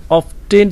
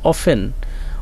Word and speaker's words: often: এরপর বলল ইট অফেন, এটা প্রায়, অফেন এখানে কিন্তু দেখতে পাচ্ছ যে OFTEN, অফটেন তোমরা উচ্চারণ করতে পারো, কিন্তু এটা হবে অফেন। কি হবে উচ্চারণ? অফেন।